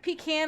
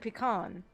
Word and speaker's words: pecan: Well, it's like pecan and pecan.